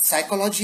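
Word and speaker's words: psychology: अब साइकोलॉजी हम कहें तो साइकोलॉजी शुरू कहां से होती है? स्पेलिंग PSY, यानी पी साइलेंट है।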